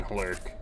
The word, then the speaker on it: hurk: a lurk a lurk H is pronounced heavily in hurk case anybody was wondering